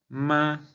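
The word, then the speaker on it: mā: Vamos a pronunciar la palabra ma, pero vamos a imagina que estamos cantando. Entonces diríamos así como ma, como si quisiéramos alcanzar una nota alta. Ma. Ese es el primer tono chino.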